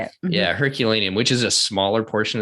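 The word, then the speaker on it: Herculaneum: Yeah, Herculanium, which is a smaller portion of the city that was destroyed in the eruption of Mount Vuvius the same time Pompei was.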